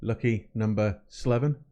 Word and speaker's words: LuckyNoS7evin: Andy Morrell lucky number Slevin and yes it's pronounced lucky number Slevin it is after the film from back in